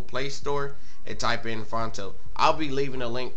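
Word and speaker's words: Phonto: Click on Fonto, P-H-O-N-T-O is the way you spell it.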